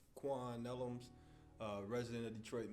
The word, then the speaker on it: Juan: real good time so Juan uh let's talk or rather Quan that's the right way to say it let's uh begin